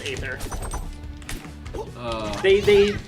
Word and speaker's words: Aether: you say it it's it's Rivals of ather um except for if you are Dan fi who pronounces it Rivals of ether and it's really funny CU he's the only person on his entire Deb team that pronounces it that way I'm sitting there in